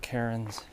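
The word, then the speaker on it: cairn: am thankful for these rock Karen's because that's how you pronounce them I didn't even know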